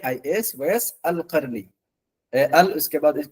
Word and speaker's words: Qarani: आई एस सस अल करनी अल उसके बाद जो है उसके बाद करनी काफ ये काफ की आवाज निकलेगी क्यू ए आर ए एन आई करनी इमाम वैस अल